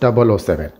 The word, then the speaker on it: 007: known by his code number 007 or 007, pronounced 007.